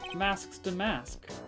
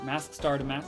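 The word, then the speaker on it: Mask☆DeMasque: I'm Masks to Mask. Oh, I was pronouncing the star last time, wasn't I? I remember. Mask Star to Mask.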